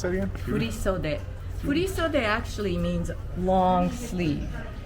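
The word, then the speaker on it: 振袖: How do you pronounce that again? Furisode.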